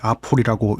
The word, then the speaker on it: apul: 이 개발사의 이름도 아퓰인지 에이퓰인지 아풀인지 헷갈렸는데 아풀이라고 읽더라고요.